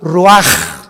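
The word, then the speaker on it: רוּחַ: ro así como suena se pronuncia la ch en hebreo como J raj se le só y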